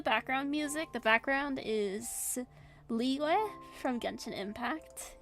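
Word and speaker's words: Liyue: The background is Leeway from Gunin Impact. It's spelled like Od.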